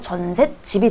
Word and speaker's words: 전셋집: 자, 전셋집 뒤에 다 된소리가 나기 때문에 사이시옷 규정 들어가서 전셋집이 되는 거고요.